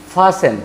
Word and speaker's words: fasten: और एक शब्द आप देख सकते हैं, नज़दीक से देख लीजिए, FASTEN, इसको आप फास्टेन नहीं पढ़ेंगे, क्या पढ़ेंगे? फासेन।